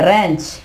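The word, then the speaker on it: wrench: ठीक है, इसके अलावा रैंच, इसके बाद रैंच, यहां पे देखें W साइलेंट हो जाएगा, रैंच।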